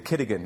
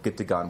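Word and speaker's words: gitigaan: He wound up buying this bar, which was called the Kittigan, as they pronounced it. It should be called Gittigan, which means garden, like for a beer garden, right?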